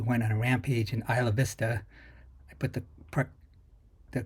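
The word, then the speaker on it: Isla Vista: admitted incel who went on a rampage in Isa Vista I put the the correct pronunciation in there for Isa it's not Isla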